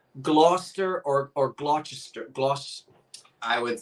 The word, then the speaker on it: Gloucester: I probably would say Gloucester. Gloucester. Because of the way it's spelled. Right. So that's not incorrect. That's just not the provincial local pronunciation of it.